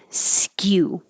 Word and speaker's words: skew: Skew. It's starting with a high position like a Y.